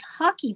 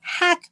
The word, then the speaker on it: Hack: time I featured it I mispronounced it I think I was calling it hockey beanie it's actually hack beanie so my apologies for